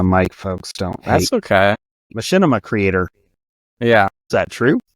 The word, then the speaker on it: Machinima: pretty sure you know it what is that Machinima machima Machinima see I'm close to eat Rusty on the mic folks don't hate okay Machinima Creator yeah is that true is that where